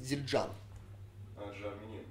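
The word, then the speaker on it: Zildjian: вот допустим тарелке зиль правильно произносить зиль а Джани Да з Ну тогда это просто логично получается да окончание ударение на окончание да это армянская дадада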